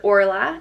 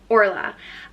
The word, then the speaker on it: Orla: ona would be easier next up is Orla and it's pronounced or LA or Allah and Orla means a